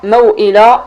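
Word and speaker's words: موئلا: ولكن كاينين واحد 2 كلمات في القرآن الكريم خارجين على القاعدة، ضروري تنتبه ليهم، لأن إلا وصلتيهم ومشيتي طبقتي 4 الحركات عليهم وخا فيهم هاد الشروط كتحسب خطأ. هما موئلة والموؤودة. هاد الكلمات كيتنطقوا عادي، كيتنطقوا حرف ساكن عادي.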